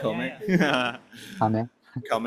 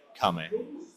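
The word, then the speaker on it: 亀: in Japanese oh turtle come come I I didn't say it right Kam Kam yeah like Kam right that's like yes that's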